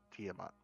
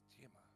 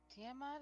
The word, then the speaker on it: Tiamat: actually read it and the name is pronounced tiamat says evil brook what do you know about this teamer organa sorry jesus christ